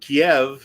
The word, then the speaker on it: Kiev: and Kiev is the Russian pronunciation.